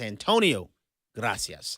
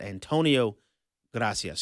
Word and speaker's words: Antonio Gracias: I mispronounced Mr. Gracias. His name is Antonio Gracias. I'm sorry for that misprononunciation. Thank you for that correction. Um, I greatly appreciate that. Antonio Gracias.